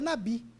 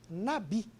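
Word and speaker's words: נביא: no hebraico lembrar que a palavra profeta é nabih nabih alguns com a pronúncia um pouco melhor já que eu não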